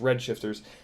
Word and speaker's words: R3D Shifters: r3d shifters frames um which is supposed to be pronounced redshifters everything about their frames